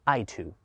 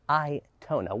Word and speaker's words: Aito: see the name here you might think it's pronounced i to i certainly did but it is i tona what does a-i-t-o stand